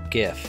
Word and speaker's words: GIF: later exported as a gift and yes I'm still pronouncing it gif I don't care what anyone else says GIF does not make sense but anyway I think